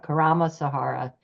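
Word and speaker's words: Karma Sahara: go to the website just k a r m a Sahara it rhymes with Sahara Karam Sahara org 2,000 signatures uh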